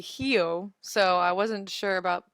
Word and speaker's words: Rio: feijoada yeah I know that Rio is actually Hyo so I wasn't sure